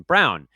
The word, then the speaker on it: Braun: shine off of Christian Braun. And the other thing that could take a little shine off Christian Braun is his differently spelled, similarly pronounced last name pal, Bruce Brown.